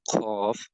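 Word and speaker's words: ق: Then cough will has to be pronounced. Visualize this part with the tongue and start saying with me cough. Right. This has to be read pur cough.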